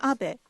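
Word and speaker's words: Abe: over to the White House my name is Abbot but in the United States some people mistakenly pronounce my name is ape because even in Japan everybody knows the name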